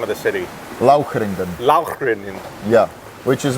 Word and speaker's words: Lauchringen: moved it to, you pronounce the name of the city, Lauchringen. Lauchringen.